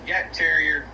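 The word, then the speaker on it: Jagdterrier: No, on the the the German hunt terrier is pronounced yak terrier, but everybody calls them jags here in the US.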